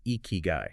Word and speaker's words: ikigai: Eeky Guy, pronounced Eeky Guy.